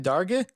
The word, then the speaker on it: Darge: And then, in the second period, Wehebe Darge scores, (learnt "Darge" is pronounced as in the English word, "large") assisted by Hunter Ellen, 3-1 Newcastle after the 2nd.